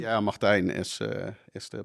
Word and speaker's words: Martijn: What's the perfect pronunciation? Yeah, Martijn is the pronunciation.